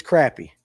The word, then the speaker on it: crappie: Now, now listen, it's crappy. I know you I know you're from Mississippi and all that and you guys all say it wrong once you get outside of Georgia. It's crappy.